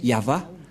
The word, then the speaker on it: Yahvah: Yod, He, Vav, He. C'est l'alphabet hébreu qui est prononcé Yahva.